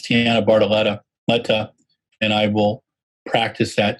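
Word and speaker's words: Tianna Bartoletta: talking over stuart uh my mispronouncing uh tina bartoletta's uh tiana barletta's name is tiana bartoletto sorry tiana it's tiana bartoletta and i will practice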